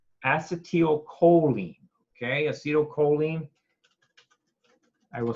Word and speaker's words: acetylcholine: cup of coffee it's a steal choline okay acetylcholine I will spell it out for you it's got an L